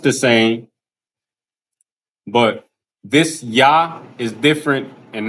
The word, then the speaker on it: Yah: Usually when the Lord's name is used in the name or something like that, it'll be Yah, phonetically spelled Y-A-H, right?